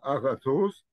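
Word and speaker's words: ⲁⲅⲁⲑⲟⲥ: A-ga-thos. Alpha, gamma, please refer to gamma, how it is being spelled. And we shall say it as ga.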